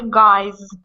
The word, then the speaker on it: guys: got that how about key key z z sound keys boy boys boys guy guy guys guys okay there you go all of the oi i e a these are all dip thong sounds so it doesn't really matter but anyway they're all voiced that's all that matters when it comes to pronouncing the S they're all voice sounds they're all going to have Z pronunciation key doie uh okay